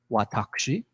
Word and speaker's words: watashi: see on the top, you can pronounce it watashi, which is a more formal way of referring to oneself, or watashi, which is more neutral, still formal.